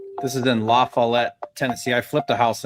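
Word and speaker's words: LaFollette: I think it's French. RJ, it is. I thought you were just mispronouncing Lafayette. It's definitely Laflet.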